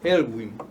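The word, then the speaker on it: Aylwin: Que começou com o Alvin, não foi? O primeiro presidente democrático. Elwin. Uhum. Como é que pronuncia? Elwin.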